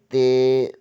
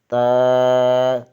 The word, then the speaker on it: ت: لہجے میں ادا کریں، اردو تلفظ سے پرہیز کریں، یعنی بے، تے، سے، جیم، اے، خے، توئیں، زوئیں وغیرہ ہرگز نہ پڑھیں، بلکہ با، تا، سا، حا، خا، تو، زو پڑھیں۔ ان 29 حروف میں